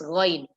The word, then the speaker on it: غ: So the throat letter ghain should be from the throat as well. It's from the throat, but it should not have the ain sound. It should be pronounced as ghain.